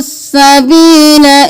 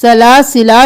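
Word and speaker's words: سلاسلا: सूरतु दहर में देख लीजिए इनहु सील इन शाफ सला सरा सलासिला नहीं करेंगे लाम ज़ करेंगे ये वाला अलिफ साइलेंट होगा सला वला ला स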